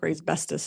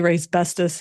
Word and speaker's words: Raybestos: How old do you think Rayb Bestus is? I'm gonna go with 50 plus. 77. 124 years. What? Apparently Ray's bestest has been since 1902. Rhymes with asbestous and we got to